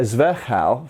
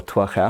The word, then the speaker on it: Zwerchhau: So those of you who want to be able to do a zwerchhau, for example, or twerchhau, however you want to pronounce it, you're going to be hitting them with a blunt, okay?